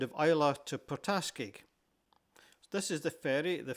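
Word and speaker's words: Port Askaig: The locals tell me that the general emphasis on most of the words is on the later syllables. Hence the Portas is more correct for them whereas I might have said Poraske.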